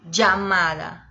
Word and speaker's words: llamada: Llamada, llamada, llamada. É como se fosse um DJ, llamada.